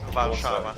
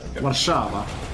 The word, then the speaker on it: Warszawa: Am I pronouncing Warsaw incorrectly? No, it's Warsaw, it's fine. Warszawa. Warszawa. Warszawa.